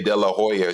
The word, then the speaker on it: De La Hoya: not let me say de la hoya she's like you don't pronounce the h in spanish and i was like